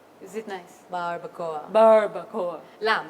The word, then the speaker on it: Barbacoa: How do you pronounce that? Barbacoa. Is it nice? Barbacoa.